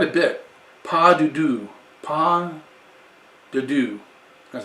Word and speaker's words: pas de deux: Kukkula Wines Pas de Deux, which we'll go to the back. Once again, he puts quite a bit. Pas de Deux. Pas de Deux.